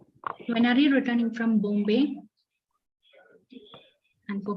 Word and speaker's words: Bombay: Okay, and also the Gayatri, the pronunciation of this word is Bombay. Bombay. O sound is coming rather than O. A-U sound. O.